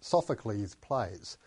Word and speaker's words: Sophocles: classical um Greek people we don't talk about sophocles's plays Sophocles wrote many plays but we just say we just pronounce Sophocles plays so again even though we add the apostrophe s we remove the second s Aristophanes if I can